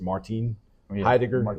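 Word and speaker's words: Heidegger: So, you know, if you want to technically pronounce his name, I think it's Martin Haidiger instead of just like Martin.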